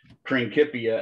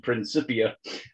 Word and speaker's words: Principia: That's why we pronounce that word Principia as opposed to Principia, because there is no soft K or C sound in Latin.